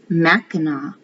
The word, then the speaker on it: Mackinac: Today, the special place we call Mackinac Island is always pronounced Mackinac.